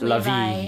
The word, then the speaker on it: Levi: It's pronounced Levi, actually.